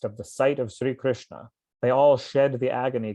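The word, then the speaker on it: Krishnā: The Krishna, with a long A on the end, is another name of the Yamuna River.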